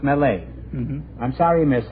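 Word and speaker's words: Millet: Vinci it's John Francois Mele m i l l e t is the way it's spelled but it's pronounced melee mhm I'm sorry you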